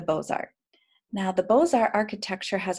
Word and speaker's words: Beaux-Arts: Now, if you were French, you would pronounce that Beaux-Arts, but we are not French. So I will say the Beaux-Arts.